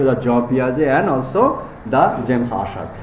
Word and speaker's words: Jean Piaget: জ পিঁয়াজে তেরে না, পিঁয়াজের কিন্তু উচ্চারণ হবে জ পিঁয়াজে।